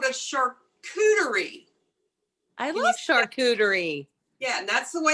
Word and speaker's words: charcuterie: love fun it's called a charcuterie i love charcuterie yeah and that's the way it's pronounced because i struggled with it for a long time but charcuterie and a charcuterie let me tell you a